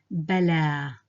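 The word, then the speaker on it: بلى: It's the form of a ya, drawn like a ya, but without dots, so it's pronounced like an alif. So this here is a, bala, bala.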